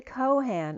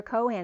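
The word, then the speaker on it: Chohan: Harvest almoria is the Kohan of the first Ray and remember Cohen is spelled many ways it can be spelled as the coin c-o-i-n or c-h-o-h-a-n or c-o-h-a-n like co-pilots and Han Solo but El Moria is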